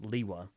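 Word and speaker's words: Lewa: And I do believe that the opportunity to represent Leewa, pronounced Leewa, would be quite I'm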